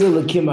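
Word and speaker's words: אלהים: The reason why we don't pronounce the hey, because it's Hashem's name, but if it's other gods, we can say the hey. And guess what? There are in a lot of communities, they actually do that. They pronounce the hey. They say it with a hey.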